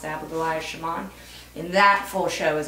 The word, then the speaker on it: Abigoliah Schamaun: It's pronounced Abigoliah Schamaun.